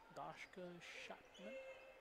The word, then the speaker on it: Dashka Shopman: Dasko Shopman there on the tie-up. Dashka Shopman. That's the correct pronunciation.